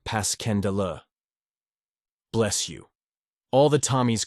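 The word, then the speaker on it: Passchendaele: was so strange to hear you call it passionale why if I may ask because that's the way I pronounce it to myself but I looked it up and it's more like Pas kendel bless you all the tommies called it passionale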